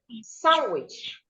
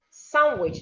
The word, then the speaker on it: sandwich: Sandwich, sandwich, not sandwich.